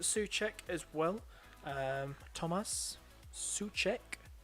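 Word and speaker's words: Souček: as well um Thomas such Che that's how you pronounced his name uh that's how he's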